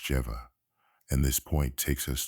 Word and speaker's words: Jehovah: by the letter yod when Jehovah should be pronounced jeeva and this point takes